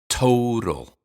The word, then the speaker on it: total: sweetheart and of course total has aspirated tea at the beginning and flap tea in the middle total total total sweetheart total